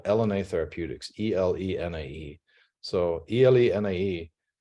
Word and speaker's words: Elenae: And so about 2 years ago, I spun out this company called Elenae Therapeutics, E-L-E-N-A-E. So E-L-E-N-A-E, you pronounce it Elenae because it's the acronym for locked nucleic acid antisense, so LNA.